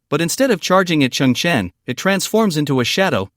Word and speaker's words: Cheng Chen: the air and undercurrent surging my name is Chun Chan beggar is into beg Chen Chan remains calm